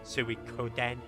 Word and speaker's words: Suikoden: Oh, hope you enjoy it when you get to Suikoden as well, or Suikoden, however it's pronounced. Suikoden.